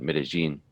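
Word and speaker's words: Medellín: in bogota then medi you can tell me the correct pronunciation or with the more of a g sound medellin that's right okay yeah um on the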